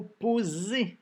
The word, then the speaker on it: poser: Il s'agissait du mot poser, que le S qui fait le son Z, et attention, il y avait un E muet.